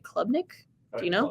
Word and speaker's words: Klubnik: Features current players such as Cade, I'm not going to say his name right, Klubnik? Do you know? Klubnik, yeah.